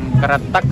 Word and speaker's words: Kretek: Wonosobo ini masuk ke Kecamatan Kretek atau Kretek bacanya Ya ya jadi Alhamdulillah kita